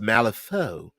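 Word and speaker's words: Malifaux: law uh Deadman says male effects is pronounced malefo and there are a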